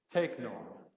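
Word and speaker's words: τέκνον: hear it in a word is techno techno all right let's say together take no take no one this is the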